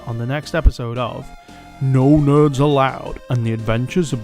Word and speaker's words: Gno Gnerds: And until next time, don't forget, the G is silent.